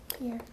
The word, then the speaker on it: Pierre: The capital of South Dakota is spelled like a French masculine name, but it's pronounced differently. What is it? Pierre.